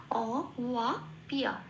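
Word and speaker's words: অবাপ্য: তাহলে আমার উচ্চারণটা কি পেলাম? শব্দে অ ইয়া পিয়া, অ ওয়া পিয়া।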